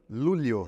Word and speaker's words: Luglio: ou lúlio a pronúncia bom se escreve luglio pori em italiano que é origem do meu sobrenome llio lúlio lúlio porque o GL italiano é o LH nosso em português tulho e você e